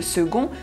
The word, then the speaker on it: second: le second confinement et faites bien attention de prononcer le C de second comme un G pour ne pas dire le second confinement au risque de passer pour un confiné.